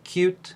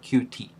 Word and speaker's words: Qt: we uh try to pronounce the name of the developer framework that we have used as cute instead of QT the first thing that